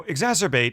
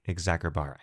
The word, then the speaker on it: exacerbate: oh just fyi in classical latin the letter c was never soft like an s as it often is in english rather it was always heart like a k therefore again this verb while spelled with a c technically would have been said something like exacerbate continuing this meant to